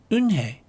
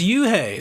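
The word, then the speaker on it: Unhei: "It's spelled U-N-H-E-I. It's pronounced Eun-hye." "Oh, it's you-hey," the boy said. "Like you, hey.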